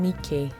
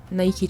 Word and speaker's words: Nike: Nike is the goddess of victory, which is where Nike trainers got their name, but of course they pronounce it Nike, not Nike.